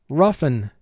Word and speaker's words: roughen: First syllable rough. R, uff. N, 2 sounds. E, n. Rough, N. Mark the word. Rough, N. Now, in this word, O-U-G-H is representing the sound and the F sound, f, uff.